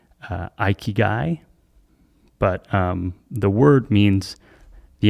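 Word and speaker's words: 生き甲斐: I believe it's pronounced ikigai, but the word means the intersection of those four things.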